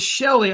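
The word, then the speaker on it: Celi: So, it's Shelly. I'm pronouncing it wrong.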